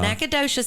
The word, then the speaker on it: Nacogdoches: And it's actually in Robert Harling grew up in Natchitoches, not Nacogdoches.